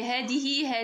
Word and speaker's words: هذه: إذن هذه كما كتشوفوا هذه بحال كنطق الألف ولكن ما كنكتبهاش، يعني حذفت منها الألف رسما يعني ما كنكتبهاش.